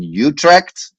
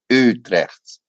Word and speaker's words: Utrecht: And so if I say as a student, I'm saying I live in Utrecht, then Profe Leo is going to say, no, that's not the way to pronounce it, and it will be Utrecht.